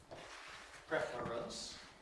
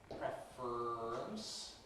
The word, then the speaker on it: preference: We then have symmetric conant formation which makes it preference. And we then have compression that removes the syllabicity and gives preference. And all three are acceptable pronunciations of this word.